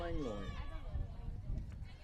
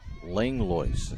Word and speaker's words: Langlois: At the plate, number 18, Maya Langlois. Maya Langlo takes strike 1. This will be her first at bat. Well, Langlois is the way I was told to pronounce that. Langlois, as my notes say there.